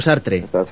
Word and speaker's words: Sartre: Me gusta mucho Sartre, sí, así es como se pronuncia.